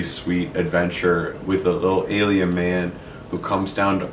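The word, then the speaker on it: aliebn: black hardcover book by Johnny Sun, and it's Alien, not Aliabnin, but that's how it's spelled. There's like a B in there. The B is silent.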